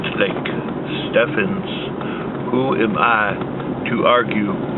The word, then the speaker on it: Stephens: a lovely park called Lake Stevens although it pronounced to think Stephan's Who am I to argue with the Park